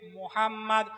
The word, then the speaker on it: মোহাম্মদ: মোহাম্মদ নিচের ঠোট উপরের ঠোট নিচের ঠোট উপরের ঠোট। যতক্ষণ না লা লাগাবেন মিম উচ্চারণ হবে না।